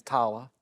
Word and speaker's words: Tyler: Yeah, the right way to say my name is Tala.